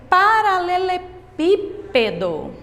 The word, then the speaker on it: paralelepípedo: Tia Selma colocou aqui a palavra paralelepípedo. Como vocês aprenderam nesses exemplos anteriores, nós já sabemos aqui que a sílaba tônica é o pi, porque nesse caso está fácil.